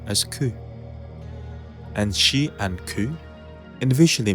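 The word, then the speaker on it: 九: 4 can be pronounced as shi and 9 as ku.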